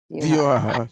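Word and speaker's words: व्यूह: Examples of such Vilas Vigrahas are Baladev, Narayan in Vaikuntha Dham, and the Chatu Bio, how is pronounced? Chatu? Vyuha.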